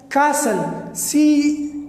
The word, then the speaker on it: castle: So the silent pattern, T is silent in word ending in STLE. जब किसी word के एंड में STLE आ जाए तो उसमें में STLE आ जाए तो उसमें ये T साइलेंट होता है. Like castle, CASTLE, castle, CASTLE, castle.